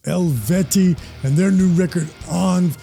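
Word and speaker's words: Eluveitie: And according to the band, their name is pronounced Elveti.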